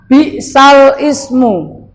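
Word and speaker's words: بِئْسَ الِاسْمُ: Nah, tulisannya bi'sal ismu. Bi'sal ismu. Tapi yang benar, karena ini bacaan apa tadi? Gorib, bacaannya yang benar adalah bi'salismu.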